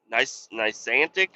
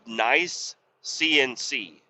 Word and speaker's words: Nice CNC: I I kept saying it niceantic or whatever. Nice nice nic uh but it's it's actually the company name is called nice CNC.